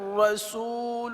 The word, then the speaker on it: رسول: اب یہاں پر را کو اس طرح نہ پڑھا جائے جیسے محمد. یہ جو را کی تکرار اصلی ہے یعنی بار بار ہونا، یہ غلط ہے. ایک مرتبہ را کو اس طرح محمد رسول اللہ. اللہ کے لام کو پر پڑھیں.